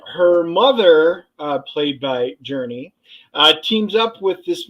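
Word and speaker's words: Jurnee: It felt different but it's pronounced Journey pretty much like the band Journey Journey smulee and I know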